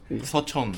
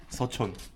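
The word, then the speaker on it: Seochon: Uh we we call this area Son. Okay. Sachon. Yeah. S U O C H O N Son.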